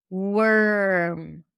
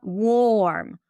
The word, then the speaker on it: worm: It sounds like you're going from the w to the r directly. Work. Worm. Right? It's not warm.